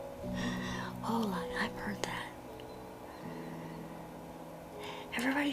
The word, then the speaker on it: Hola: I've heard that. Not holla. Hala like say hello like all happy. Hola.